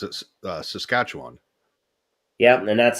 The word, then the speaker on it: Saskatchewan: I mean, they always hit the wrong syllable. Mhm. Most of them, it's Saskatchewan, and it's like no, it's Saskatchewan. I would, yeah, I pronounce it Saskatchewan.